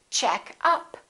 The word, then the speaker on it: checkup: And if it's a noun, we stress the first part. For example, make up, or I'm wearing makeup. I'd like to buy some new makeup. Another example is check up, or you can say checkup.